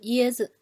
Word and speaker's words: 椰子: Its pronunciation, just following the preceding syllable. Let's try these ones. The first one, 椰子 coconut, right? 椰子椰 is our first tone, so 椰子 The second one, 儿子